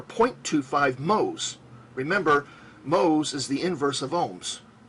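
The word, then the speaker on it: mho: two five moles remember mohs is the inverse of ohms it's spelled in reverse and is pronounced in reverse and you use the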